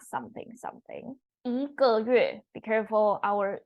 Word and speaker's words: 一个: We don't pronounce fourth tone g as how the Google Translate Pinyin system show you. It's pronounced as neutral tone. E here, because it's neutral tone or fourth tone, you need to pronounce the E as second tone.